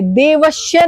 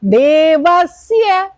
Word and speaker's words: देवस्य: श और स आर डिफरेंट। ठीक है, तो श नहीं, देवश्य नहीं है ये, please, it's a biggest mistake, सारा मंत्र उल्टा। देवस, सड़क वाला, देवस्य, देवस्य।